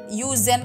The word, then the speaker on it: yüzen: Kemudian itu ada lagi yüzen kan, ada U yang titik 2 di atas. Jadi kalau yang ada titik 2 di atas pokoknya bacanya mulutnya harus monyong. Jadi misalkan kan kalian mungkin bacanya yüzen kan, tapi harusnya dibacanya yüzen. Jadi bibirnya monyong.